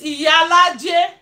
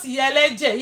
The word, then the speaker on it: Iyalaje: Flo J was saying Yalaje. So, Flo J, if you are seeing the building, it's Iyalaje, not Yeleje.